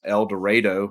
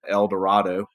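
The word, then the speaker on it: Eldorado: town in West Texas eloro and they know that you're not a local if you pronounce it El Dorado so what happens is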